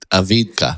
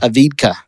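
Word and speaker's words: Avdiivka: a city that I can't pronounce ad ad spell it I'll never a d i i v Ka say it aidka aidka so they've been fighting over this city for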